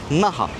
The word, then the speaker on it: Naha: Naha arkadaşlar çok basit yazıldığı gibi okunuyor. Naha bölgesi.